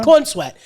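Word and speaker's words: Corenswet: The correct way to pronounce his name? There you go. Corn Sweat.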